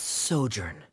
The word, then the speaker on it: sojourn: this story together well is everything clear Asimo pronounce this word let me see Ah that's sojourn it means to stay for a while this